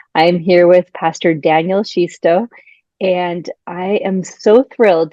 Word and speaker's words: Xisto: name is Pastor Daniel shisto the ex throws every off and it's okay um it's pronounced she like the pronoun she and then sto like stole those bags away so she sto and I am coming